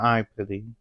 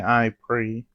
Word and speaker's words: Aipri: I say I puty because the Japanese way of saying it, it's pronounced I put, but in English most people will say I pre.